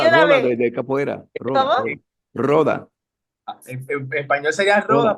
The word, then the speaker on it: roda: Y también Ricky me ayuda con la pronunciación, una, siempre lo digo mal, una joda. ¿Una qué? Es que yo siempre digo esa palabra mal, perdóname. No, Roda, no, no.